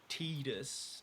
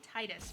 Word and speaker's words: Tidus: the game like me, like Tidus. I said Titus my whole life.